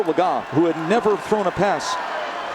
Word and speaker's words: Legas: So the guy who was number 3, Cooper Legas, and yes, I know we pronounced the name earlier a different way, but it's Cooper Legas, who had never thrown a pass.